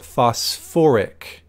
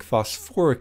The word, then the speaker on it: phosphoric: but like I said phosphorus containing acids have that extra syllable we call it phosphoric not phosphate phosphoric acid which is actually an